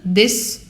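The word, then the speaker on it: です: Você vai falar Watashi wa nanana desu. Watashi wa nanana desu. Esse desu, ele também é pronunciado como se não tivesse o u. Des.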